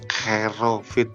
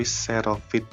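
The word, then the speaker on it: xerofit: yang ketiga adalah serofit ini bacanya bukan kerofit tapi serofit ya Apa itu serofit serofit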